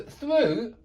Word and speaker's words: through: I'm always interested so through does rhyme with hu hu and it's this o sound o o through hu